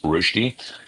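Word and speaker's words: Rösti: hash brown actually is a Swiss rosty or rushi r o s t i with an umlau over the o to pronounce rushi.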